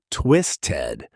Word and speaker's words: twisted: Pronunciation twisted. Again, that flap t pattern turns the ending into a soft did sound in fast speech.